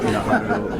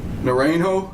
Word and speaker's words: Najarro: The next one, Anthony Alfredo Naranjo. Did I get that? Najarro. Najarro. N-A-J-A-R-O. R-R-O. R-R-O, sorry.